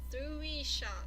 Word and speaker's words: Thurisaz: I went to do this one here, and it's pronounced as, it's spelled Thuris, Thurisaz. And how they pronunciation is Thurisha.